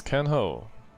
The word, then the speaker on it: can ho: It's can ho. You already heard me say that one when we met. Be careful. A in can is pronounced like A in cargo.